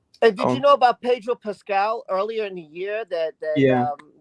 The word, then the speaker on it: Pedro Pascal: So Pedro Pascal, that's how you say his name, he plays